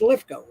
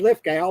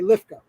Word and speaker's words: Lithgow: But that season with John Lithgow, and I believe it's Lithgow. I always said Lithgow, but I've heard him say Lithgow. So you pronounce it Lithgow, John Lithgow.